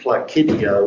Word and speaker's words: Placidia: Yeah, and I think her last name, if that's what it is Placidia with a hard C.